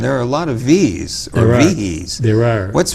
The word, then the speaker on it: Viehe: If you're from my side of the family, the correct pronunciation is with one syllable, V. If you are from this other misguided side of the family, the pronunciation is Viehe.